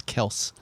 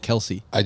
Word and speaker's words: Kelce: saw two videos where he said it's Kels, and that he allows people to Maybe. call it Kelce.